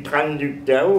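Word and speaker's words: Trần Đức Thảo: du temps à Tranductao, ça s'écrit Tranductao, comme ça se prononce, T-R-A-N, Duc, D-U-C, et Tao, c'est un nom vietnamien.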